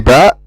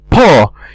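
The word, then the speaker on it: ب: say you don't say you don't say PA you say B now let's take another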